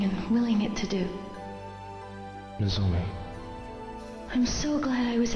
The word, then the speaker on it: Nozomi: never expressed anything and there it is i pronounce it nozomi because he's always saying no to her here